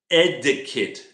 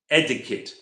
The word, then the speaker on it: etiquette: Oh, by the way, 3 syllables. Etiquette. A syllable means how many sounds in the word. Etiquette. Syllable. 3 syllables. Etiquette means the polite way.